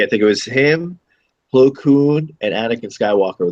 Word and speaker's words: Plo Koon: so that Plo Koon, I keep saying Kloon, like George Clooney. It's actually Plo Koon, Koon.